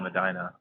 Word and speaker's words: Medina: they also have a it's spelled like Medina like in Saudi Arabia but they call it Medina oh yeah I learned